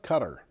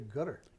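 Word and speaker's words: Qatar: closer closer it's a gutter gutter okay let's do it this Arabic cue is almost a G okay almost I know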